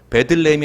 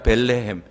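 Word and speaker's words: בית לחם: 다 잘 알고 있어요 베들레헴에서 좀 발음을 정확히 읽어보면 벨레 햄이에요 베들레헴이 아니라 벨레햄 그 무슨 말이냐 벳은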